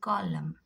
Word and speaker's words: column: See, two examples I have, autumn and column. Autumn and column. So N becomes silent when the combination of M and N together, two letters.